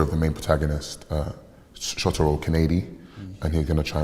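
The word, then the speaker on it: Kaneda: the main protagonist, Shotaro Kanedi, and he's going to try and find and bring back his childhood friend, Tetsuo Shima. Sorry, it's just pronounced Shotaro Canada and Tetsuo Shima.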